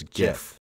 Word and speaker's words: GIF: This is obviously pronounced as GIF, so hopefully that settles it for everyone.